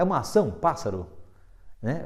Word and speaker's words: pássaro: de três sílabas né Qual é a sílaba mais forte é a última ur